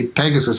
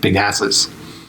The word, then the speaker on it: Pegasus: I used to say Pegasus I used to pronounce like big asses and people just laughter